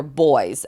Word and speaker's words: buoys: for cash is called playing with the buoys or boys as it's British Le pronounced I don't know why